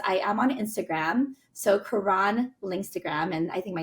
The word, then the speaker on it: Caron: But I always tell people it's spelled like turn the car on.